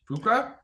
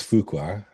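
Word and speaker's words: Fuqua: Antony Fuka. Is that how you say his name? Fuka. Oh, I up in the intro. Uh but I think it's Fukua.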